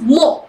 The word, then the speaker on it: mho: power inverse that is more it can it is also pronounced as Mo sometimes yeah this is weird